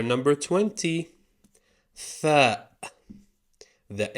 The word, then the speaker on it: فاء: Fa. The F of the Arabic alphabet. Plain and simple. Pronounced fa, exactly like the letter F.